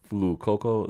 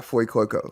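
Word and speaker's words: Fuecoco: So the Fire one is Flu Coco. Is that right? Yeah, Foy Coco.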